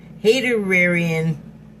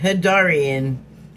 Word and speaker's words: Hadarian: Origin believed to come from the Haterarian. Oh, sorry. Hadarian. I was giving it a whole another syllable.